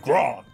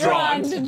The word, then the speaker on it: Grond: Standing there shouting, Grond! Yeah. It's actually pronounced Drond.